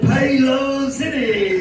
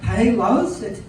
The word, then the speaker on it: Paylocity: Pay Low City! It is pronounced Paylocity. That's what I said, Payload City.